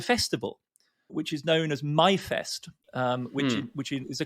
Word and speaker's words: Myfest: which is known as myfest um which which is a clever english german pun because the german for may is my but they spell it english m-y-f-e-s-t so in other words